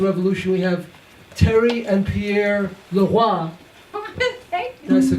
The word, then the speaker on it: Pierre Leroy: And to begin this discussion with the Haitian Revolution, we have Terry and Pierre Leroy. That's the correct pronunciation. I was afraid he'd go Leroy.